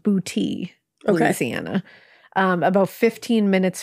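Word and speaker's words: Boutte: of this place in Louisiana and it is pronounced bouti Louisiana um about 15 minutes from Kenner of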